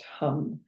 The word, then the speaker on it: ham: It's written ham m, but it's pronounced hum.